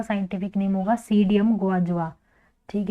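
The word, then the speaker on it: Psidium: का scientific name होगा सीडीएम गवा जवा ठीक है तो पी पी साइलेंट होगा इसमें सीडीएम पी एस आई डी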